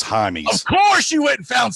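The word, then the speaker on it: Jaimes: uh brennan it's spelled it looks like jamie's but it's jaime of course you wouldn't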